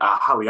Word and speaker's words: Hollye: Hollye, I'm pronouncing your name correctly, right?